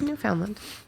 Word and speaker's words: Newfoundland: It's Newfoundland.